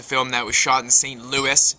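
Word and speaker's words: St. Louis: that was shot in St Louis not St Louis Europeans pronounced the S so that's what I'm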